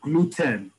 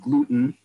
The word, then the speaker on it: gluten: In Hebrew, because Hebrew, we read out every letter. We don't have silent letters like we do in English. It's like Spanish in that respect. There's a letter that we otherwise wouldn't pronounce in English, we do in Hebrew, right? Like gluten. You heard how I pronounce it gluten. It's gluten.